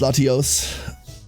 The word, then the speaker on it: Latios: It would be pronounced Latinos. I mean, it's Latias and uh the other one, right? Latias, Latios.